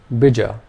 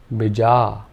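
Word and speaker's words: bīja: If we made both the vowel sounds long, this would be said as bija. Bija. And finally, if only the first vowel sound was long, this would be pronounced bija. Bija. And the word bija in Sanskrit means seed. So do you notice how much of a difference it makes to hit the right long and short vowel sounds?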